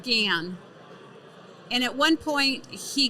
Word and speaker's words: GaN: to develop it and it's called gan technology it's the next level of silicon i spell it again g a n so capital g a a a small a and capital n and so um the